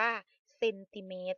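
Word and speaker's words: เซนติเมตร: โซ่ ม ม้า จุด เรา อ่าน ว่า เซนติเมต ซึ่ง อ่าน ว่า 8 ซม นะ คะ ต่อ ไป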